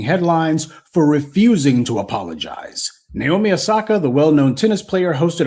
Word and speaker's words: Naomi Osaka: So the next topic is Naomi Osaka.